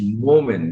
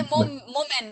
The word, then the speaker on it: Momen: First of all, my name is Momen. You know, there are a lot of women here. Make the W into an M. That's me. You know, I say Momen.